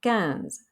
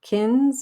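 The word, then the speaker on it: quinze: like gatra and qatar's we have cans so it's not quits or kins or quines says sixteen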